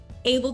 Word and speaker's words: ABL: her name is Anne and she is with able documentation that I pronounced that correctly Anne yes you did yes